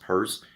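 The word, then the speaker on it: Peirce: He was he was a Christian but you know philosopher Charles Pur pronounced purse but spelled Pierce like Pierce Brozen aka 90s and early 2000s Bond.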